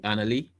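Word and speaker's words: Annalie: Annie Lee Prime, she is, I don't know, maybe she's underground right now or something because of, but her name is spelled A-N-N A-L-I-E, Annie Lee.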